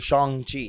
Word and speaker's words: Shang-Chi: Respect to Shang-Chi.